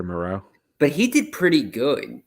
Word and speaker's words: Moreau: I can't pronounce his name. Yeah, it's Foster Moreau.